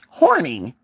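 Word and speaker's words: Horney: a woman named Karen Horny. Okay. And not spelled like horny, horny, horny, but spelled like hornet.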